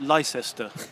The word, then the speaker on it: Leicester: They pronounce it Leicester because the I they don't understand that it drops out.